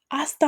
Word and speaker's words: hasta: It could be hasta mañana. Hasta mañana. The H is always silent. Every time you see an H in Spanish, it is always silent. So we're saying hasta mañana.